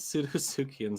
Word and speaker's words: Pseudosuchians: Hail Nero, Hail Jax, Daps and Ness, and Hail Salubrious Pseudosuchians. I like that with the silent P and salubrious.